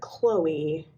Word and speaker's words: Chloe: although of course like in English we pronounce it Chloe and I'm sure in ancient Greek it's you know it probably starts with the what letter the one that looks like an X Kai so it would probably be pronounced more like oh gosh I'm going to embarrass myself Chloe Chloe that's my guess so for those of